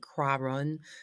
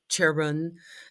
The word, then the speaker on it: Chiron: is, because this is about and some people pronounce it Chiron, some people pronounce it Chiron, and it's like, you know what?